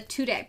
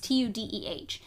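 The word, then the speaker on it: Tudeh: party that's formed that's called the Tudday Party, I believe is how it's pronounced. It's tu dh.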